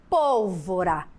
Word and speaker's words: pólvora: Então aqui eu tenho a palavra lâmpada, a palavra rápido, a palavra pólvora. Já está sinalizado em vermelho a sílaba tônica. Lã de lâmpada, rá de rápido, pol de pólvora.